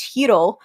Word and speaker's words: Hiro: blind or not but the way she pronounces hero's name would uh which is hiro that that could that should have been that should have been a click for me since uh like in spanish we would pronounce it the same way uh go ahead i'm